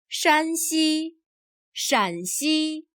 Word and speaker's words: Shanxi: Listen to these 2 province names. 山西、陕西。 The differences in spelling and pronunciation are very subtle, and those 2 provinces are next-door neighbors.